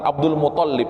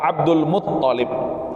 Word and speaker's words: Abdul Muthalib: Thalib atau Muthalib ya jadi pengucapannya Abdul Muthalib Jamaah rahimakumullah ya selama ini kita mengatakan Abdul Muthalib ya tapi yang benar adalah Abdul Muthalib ya wahai Abdul Muthalib